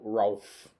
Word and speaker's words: Rowlf: He's not spelt Ralph. It's spelt Rolf. Like a dog noise.